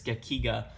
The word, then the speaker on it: gekiga: I keep saying it and pronouncing it in different ways, but it's Gekiga.